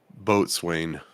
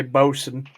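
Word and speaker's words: boatswain: medic cook and Boson how to spell that both since boat Swain yeah thank you because that's how I pronounced I pronounced it how I read it well yeah that's the original one but because British people don't know how to English right they say Boson yep can I see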